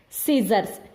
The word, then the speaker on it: scissors: At the beginning of any word, if S and C are both are there, only S is pronounced and sound of C will be silent.